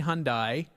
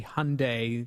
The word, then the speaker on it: Hyundai: a and Ice say Hyundai because that's how I pronounced it when I was in England uh but it's actually Hyundai they want it pronounced with like Hyundai Sunday uh this is an